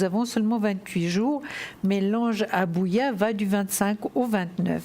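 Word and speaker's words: Habuhiah: jour un prénom assez compliqué aujourd'hui il s'appelle abouya alors ça s'écrit h abbaye hu jia h comme vous le voyez sur votre écran il est absolument magnifique notre ange abouya je vais vous donnez donc l'ange gardien des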